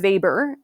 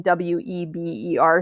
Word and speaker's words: Weber: German economist called Alfred Weber, but it is written W-E-B-E-R, so you might be thinking Weber, but it is pronounced Weber, like with a V, but it's not a V, because, why not?